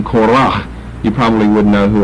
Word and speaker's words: Korah: And we like to accent the first syllable. Korah, not Korah, but Korah.